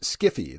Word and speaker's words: sci-fi: There is sci-fi, which author Harlan Ellison says should be pronounced skiffy.